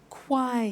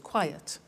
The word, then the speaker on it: quiet: at another example quiet listen to that quiet yet 2 syllables quiet another one safe is